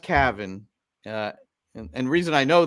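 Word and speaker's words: Cavan: 14 years old Cavin Sullivan and it is pronounced Cavin uh and reason I know that is Bridget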